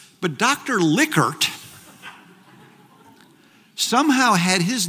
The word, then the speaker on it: Likert: my statistics professor said I know dr. Likert and it does not like hurt so anyways I sort